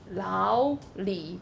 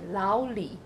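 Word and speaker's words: 老李: Lao is the 3rd tone and Li is the 3rd tone. But when you combine the 2 together, the first 3rd tone becomes the 2nd tone.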